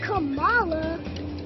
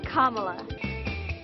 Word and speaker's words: Kamala: It's not Kamala, not Kamala. It's Kamala. Il vero problema di Trump però non è la pronuncia, ma che a sfidarlo non ci sia più Joe.